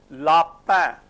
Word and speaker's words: lapin: La, first A, the rule that we have learnt, A is always pronounced A, lapin, lapin, okay.